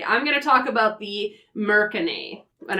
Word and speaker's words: mercane: gonna talk about the mercony and I'm gonna pronounce it that way because technically they are merchants of all things magic items and where so I'm thinking Merchant American a yeah thank you for